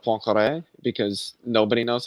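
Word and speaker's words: Poincaré: names yep i heard him kept saying poincare instead of poncare because nobody knows how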